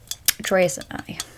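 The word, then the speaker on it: TRESemmé: Anyway, Tresemme. Well, I don't pronounce it Tresemme.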